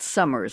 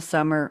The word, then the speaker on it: Summer: But I have to tell you, Donna Summer, and it was just Summer, not Summers. A lot of people say it's Summer apostrophe S possessive.